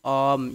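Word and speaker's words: arm: तो ये इसको कहते हैं आम, यानी आर साइलेंट होता है। ठीक है, आम आम।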